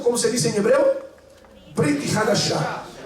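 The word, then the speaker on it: ברית חדשה: En el Nuevo Testamento, que en hebreo se dice Brit Hadashah. En hebreo, Nuevo Testamento se dice Brit Hadashah. Diga conmigo: Brit Hadashah. Brit Hadashah. Así se dice Nuevo Testamento en hebreo.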